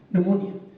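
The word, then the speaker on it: pneumonia: ये नमूनिया लफ्ज यहीं से निकला है, और नमूनिया की स्पेलिंग पी से शुरू होती है, PNEU, नमूनिया, और ये लेटिन वर्ड है, लतीनी जबान का।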